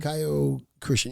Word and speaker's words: Kyokushin: Kyokushin. Yeah. Correct. I'm not gonna pronounce it right.